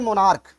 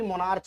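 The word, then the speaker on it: monarch: इस जगह पे देखिए मोनार्क, यहाँ जो सी एच है उसका प्रोनाउंसिएशन का आ रहा है, ना कि मोनार्च आ रहा है।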